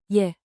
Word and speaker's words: je: Say it like a quick, soft, yay. Je. With rising intonation, think 2 ascending notes. Memory hook. Say, yay to cue.